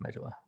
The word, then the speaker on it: medulla: It's pronounced medulla.